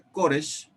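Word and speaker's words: כורש: Bueno, porque el nombre Koresh viene de la lengua, en la lengua persa se pronuncia Kurush y en Babilonia, la lengua babilonia, Kurash. Y cuando se pronuncia Koresh es Kurus y Kuras, pero en hebreo.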